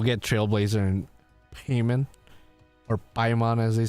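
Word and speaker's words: Paimon: We will get Trailblazer and Payman or Pon as they say. It's pronounced Payman IRL, but you know.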